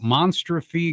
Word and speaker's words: Monstrophe: are listening uh m-o-n-s-t-r-o-p-h-e so I guess the way we kind of thought about it is it's like a combination of monster and catastrophe so you get the